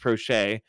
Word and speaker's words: Proche: the lines of Rashad Bateman, Devin Duvernay, James Prochet the second, and it is pronounced Prochet.